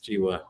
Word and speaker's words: Giwa: uh that I I think it's Jiwa, how you pronounce the last name, but yeah, he was on campus visiting today.